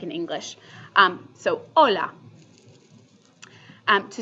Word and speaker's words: hola: just your basic hello hola okay it's spelled with an H but the H is always silent in Spanish always unless it's compared